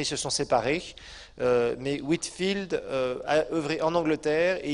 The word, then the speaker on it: Whitefield: Alors, à l'époque, il y avait aussi un certain Whitefield, ou Whitefield, si on veut mieux prononcer, comme un champ blanc.